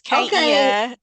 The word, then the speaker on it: Kaia: comes on screen, I'll ask her about the pronunciation of her first name. I'm here. It's Kia. I don't know why the video is not working. Oh. Oh. Kia.